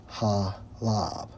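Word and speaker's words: חָלָב: for milk Strong's H TWA Strong's H 2461 pronounce as halab which means what abundance of the land okay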